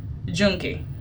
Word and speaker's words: Yunque: from the rainforest tour El no Junkie junkie that's how it's pronounced junkie it was great and